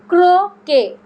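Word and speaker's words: croquet: উচ্চারণটা তাহলে কি, ক্রোকে।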